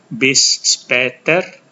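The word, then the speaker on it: bis später: B speter bis speter ini ada a dengan titik dua di atas Um laut dibaca seperti A dan e jadi bunyinya seperti e bis speter artinya sampai nanti sama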